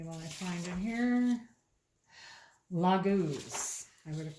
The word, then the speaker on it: Laguz: Laguz. I would have pronounced it wrong. It's Laguz. Laguz encourages you to immerse yourself in the experience of living without having to evaluate or understand.